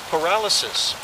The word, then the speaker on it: pyrolysis: Pyrolysis. I'm not sure how you say it. Sounds like paralysis. Paralysis, but it's pyrolysis, yeah.